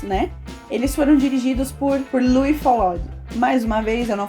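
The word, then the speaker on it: Louis Feuillade: filmes em pedaços, né, eles foram dirigidos por Louis Follade. Mais uma vez, eu não falo francês, não sei se eu falei certo, mas acredito que seja assim a pronúncia do nome dele, Louis Follade.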